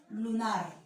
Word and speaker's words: lunar: Otro ejemplo, a ver, lunar. Lunar. ¿Dónde lleva la mayor fuerza de voz? Lunar. En nar, ¿verdad? Entonces, la sílaba nar vendría a ser la sílaba tónica.